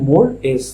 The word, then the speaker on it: mores: মোরেজটা কি হচ্ছে, এটা স্পেলিং কিন্তু MORES, কিন্তু প্রোনাউন্স করা হয় মোর-এস, ঠিক আছে।